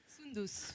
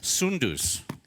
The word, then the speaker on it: Soundous: Come on up here, madam, because I know I'm going to butcher the pronunciation of your name. It is? Soundous. Soundous.